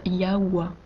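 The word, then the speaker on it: Yahweh: que le verrai tables nom de dieu se prononcent yawa eia en hébreu ancien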